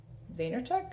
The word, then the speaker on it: Vaynerchuk: crushing it by Gary Vee I think you pronounce this last name Vaynerchuk I can never say it so crushing it